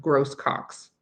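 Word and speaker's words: Grosses Coques: Okay, but they have gross cocks here. Like, who thought of that? I would definitely spell like pronounce that the French way, but no, they don't.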